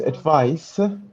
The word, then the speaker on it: advice: No, they're not the same. No, different pronunciations actually. The noun is advice. The verb is advise. Yes. So different pronunciations.